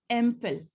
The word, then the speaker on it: MPhil: So the very first sound is A. MLit, the first sound is A, not M.